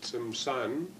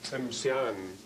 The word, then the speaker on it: Tsimshian: called in our way Tsimshan, Tsimshan. They call themselves, they pronounce it a little bit differently, as Tsimshian, Tsimshian, Tsimshian, or Sian.